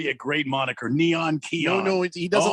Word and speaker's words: Keon: spells his name wrong kion go ahead k-e-o-n yeah like neon but with a k and that's it don't